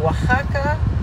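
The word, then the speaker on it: Oaxaca: dans l'état de Waka ça se dit Waka et ça se ça s'écrit waksaka un karaoke ici sur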